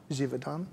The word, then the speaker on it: Givaudan: Name to pronounce. Of yeah, that's all of the speakers. Right. But the company is Givaudan? Givaudan? Givaudan.